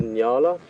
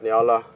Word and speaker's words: nyala: And this is a nyala.